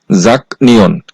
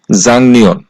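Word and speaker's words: 작년: বাচ্চিমের পরে আছে নিউন এই শব্দটার উচ্চারণ হওয়ার কথা ছিল জাক নিয়ন কিন্তু বাচ্চিমের রুলসে যেহেতু আছে যে গিউক বাচ্চিমের পরে যদি নিউন আসে তাহলে এই গিউকটা বাংলায় অনুষ্কার করতে হবে এইজন্য এই শব্দটার সঠিক উচ্চারণ হবে জাংনিয়ন এরপরে হচ্ছে 16 নাম্বার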